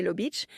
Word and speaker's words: Lubic: À la suite d'une relation amoureuse qu'elle a eu avec le médecin belge de cet hôpital, le docteur Michel Lubic prononcé Lob Beic, elle va donner naissance le 22 mai 1935 à un garçon qu'elle prénomme Léon Lubic.